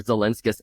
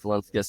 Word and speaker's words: Zelinskas: I would like to say hello to Zelinkskas. How do you say your name? That was pretty good, though, honestly. I mean, you got, like, the syllables in there. Zelinskis, Zelinskis, yeah.